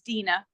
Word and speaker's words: Deanna: me it it's Dena spelled like Deanna but it's Dena thank you Dena sorry for the mispronunciation